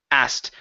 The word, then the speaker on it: asked: ending word ok but in this particular word we do not need to pronounce the K ok so instead of saying asked ok it is just the T asked Lily asked coal try